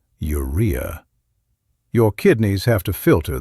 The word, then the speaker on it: urea: When you eat protein, your body breaks it down and creates waste products like urea, pronounced urea.